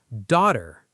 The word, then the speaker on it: daughter: Daughter. Say it. Daughter. The GH is silent.